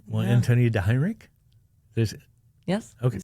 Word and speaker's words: Antonia DeHeinrich: Well, Antonia DeHeinrich, Yes.